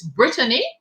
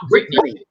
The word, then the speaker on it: Brittany: old old market um i think we've been pronouncing it's brittany and not britney okay sorry about that